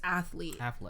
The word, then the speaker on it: athlete: so it's it's saying athlete they're saying people sometimes say it with three syllables like athlete athlete but they're saying it's actually two it's just athletes oh yeah okay that